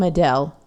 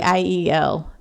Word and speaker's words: Adiel: I want to call him Adele. That's not how you say it.